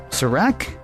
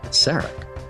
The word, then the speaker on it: Sarek: This week, I hope I'm pronouncing this right. Is it It's uh Seek. Is it um Sarak? No, Kenneth. It's Sak.